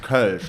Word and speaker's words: Kölsch: Because it's pronounced Kölsch, like it has the O with the 2 dots on top, the umlaut, and it took me